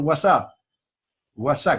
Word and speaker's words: WhatsApp: cómo lo hacemos por guasa guasa que se escribe con g y s como ustedes saben nos escribe con doble y es whatsapp los ojos por whatsapp